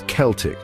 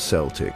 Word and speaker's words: Celtic: It's Celtic, not Celtic, unless you're talking about the Boston basketball team.